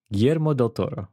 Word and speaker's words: Guillermo del Toro: Am I pronouncing it still wrong? Guillermo del Toro.